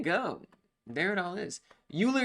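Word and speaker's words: Euler: there it all is uler is pronounced Oiler like any Oilers in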